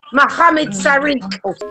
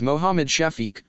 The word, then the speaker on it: Mohammed Shafiq: Carry on, Mohammed Sarik. Say that again. Mohammed Sarik. What? Tracey, my name is Mohammed Shafiq, not Sharik, or however you pronounced it.